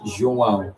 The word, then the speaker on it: João: But uh he says, "No, you don't say João." And I don't make it dramatic. He literally said to me "It's not making it dramatic, but this is literally how you say it. It's João, not João." But like a little wave in the in the name.